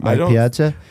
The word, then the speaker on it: Mike Piazza: Have you seen Mike Piazza recently? No, I don't. Am I pronouncing his name right? Mike Piazza? Yes. So he is not in the public eye because he doesn't have a face anymore.